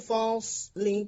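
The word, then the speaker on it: فصل: Inna yawmal fasli kana miqata. Fasli, sad tebal dibacanya.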